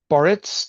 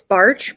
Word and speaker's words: Barycz: Barycz. Did I get that right, Victoria? It's Barch, but that was pretty close. Yeah, it's like Irish. There are 19 consonants, of which only one is pronounced.